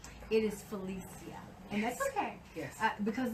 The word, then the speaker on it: Felicia: Well, first of all, and this is something my mom taught me to pronounce my name correct. It is Felicia, and that's okay.